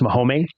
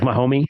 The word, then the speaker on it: Mahome: I found it's actually pronounced Mahome. So it's like Mahome.